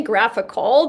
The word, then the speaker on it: GraphQL: Is it GraphQL? I don't honestly. I say Graphical, but that's probably okay. I don't know. I'm Canadian, so right. Who knows? We all use it. Yeah, it's the Canadian pronunciation is Graphical.